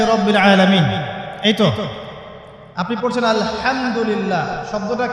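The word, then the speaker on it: الحمد لله: আলামিন এইতো আপনি পড়ছেন আলহামদুলিল্লাহ শব্দটা কি আলহামদুলিল্লাহ এই হা এর মাখরাজ কোথায় হা এর মাখরাজ কোথায় বলেন একজন কণ্ঠনালীর মাঝখান থেকে এখান থেকে আপনি উচ্চারণ করছেন আলহামদুলিল্লাহি রাব্বিল আলামিন অর্থ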